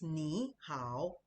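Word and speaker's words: 你好: No, it's nihow. Nihow. That's the way it's pronounced.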